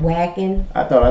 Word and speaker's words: Wacken: was pronouncing it wrong it's called what i think it's called vacuum instead of wagon i thought i said